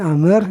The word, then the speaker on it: Amr: Bil awaliyah, dengan yang pertama, ila Abdullah bin Umar bin Amr. Jadi kalau ada wawu di sini Amr bacanya ya, sampai kepada Abdullah bin Amr bin Al-As.